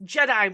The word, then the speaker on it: Jedi: Yes, Jedi mind trick. Thank you, Terrence. Jedi. It's called Jedi. Get the pronunciation right.